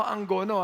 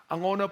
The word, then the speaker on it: Angono: alam niyo yung Angono Hindi ho ang gono ah Angono pag ni pronounce ninyo kinakayang gagaling sa ilong Angono Ayan Angono Ayan